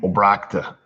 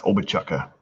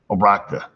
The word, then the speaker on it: Obrochta: How do you pronounce my last name? Obrakta. Unless you're a telemarketer, then it's Obachuka or Obrochta. Obrakta. That's why I leave it at.